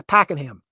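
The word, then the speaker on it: Pakenham: how do we it it's weird how it's spelled compared to how you want to pronounce it so I've seen people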